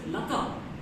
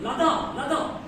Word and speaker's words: Lata: Worse, his wife's name is Lata. He pronounces Lada.